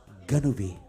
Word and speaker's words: Ganube: Kak, pengucapannya bukan gitu Kak. Harus Ganube, harus gitu dia.